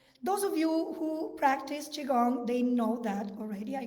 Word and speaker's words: qigong: that comes from the very ancient practice of qigong is my pronunciation correct yes which is this and very